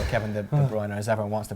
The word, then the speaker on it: De Bruyne: the cameras currently on Kevin the brown as you supposed to pronounce it Kevin de Bruyne knows everyone wants to